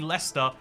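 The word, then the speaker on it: Leicester: you pronounce this one it's actually lester over time like syllables just got removed became obsolete birmingham or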